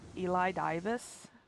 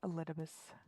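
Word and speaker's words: Elidibus: a little bit i i thought for a while his name was supposed to be pronounced eli divis but no it's elitibus he's he's he's the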